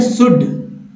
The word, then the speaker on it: should: Next है शुड, SHOULD, शुड, जिसमें L का कहीं भी उच्चारण नहीं हुआ चाहिए।